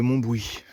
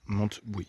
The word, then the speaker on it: Montbouy: dans la ville de Montbouy avec un thé mais qui se prononce pas monte oui mon bruit ah il y a